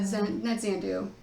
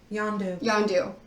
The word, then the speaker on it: Yondu: Not Zandu. The guy with the whistle and the arrow. Yondu.